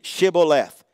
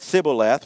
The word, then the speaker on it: Shibboleth: They would say to him, "Then say Shibboleth." And of course, they said Sibboleth, for he could not pronounce it right.